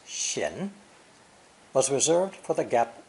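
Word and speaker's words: 閒: original character depicting the moon between two doors pronounced shin was reserved for the gap itself the void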